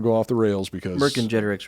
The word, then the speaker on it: Vercingetorix: Vercingetorix, right? Vercingetorix, yeah. Wait, according to Gigi... Oh, yes. It's Vercingetorix.